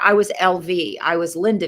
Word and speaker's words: LV: Try saying LV, accent on the V for grandmother name. LV, LV.